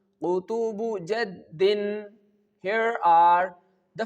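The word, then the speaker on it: قطب جد: With the help of this phrase, which is Qutubu Jaddin. Qutubu Jaddin.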